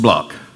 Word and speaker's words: Block: I appreciate that Mr Block thank you thank you Pastor Smith my name is Block it's spelled BL o but it's pronounced block like the rock who you may have